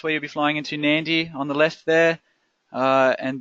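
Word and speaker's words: Nadi: so you'll see in the background there that's nandi International Airport now it is spell na di but it's pronounced Nandi so make sure you're aware of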